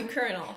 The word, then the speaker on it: colonel: And the reason for this is we got this from the French word. Yeah. And we kept the English pronunciation and the French spelling. And so it turned out to be Colonel. Yeah. Thank you, This Colonel word doesn't Jack have an O'Neill. R in it. There's no R.